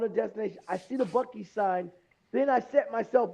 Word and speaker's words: Buc-ee's: Have you seen the viral video of the guy that pronounces it intentionally, it's a Busey.